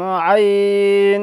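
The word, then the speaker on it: ع: তার নাম কি আইন আইনটা শক্তভাবে উচ্চারণ হবে আইন উচ্চারণ কেমন হবে আইন হলকের মাঝ হাতে গলা চেপে হবে অর্থাৎ শক্তভাবে উচ্চারিত হবে বলেন আইন আইন আইন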